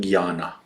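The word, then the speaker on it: Jnana: activities and there is Gana yoga Gana is written J N A N A but it's pronounced Gana uh so yoga of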